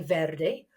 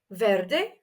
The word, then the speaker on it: Verde: ver and guess what some people actually pronounce their V's as be's in Spanish so you may choose to say Verde or you may choose to say ver either is fine Verde or B excellente moving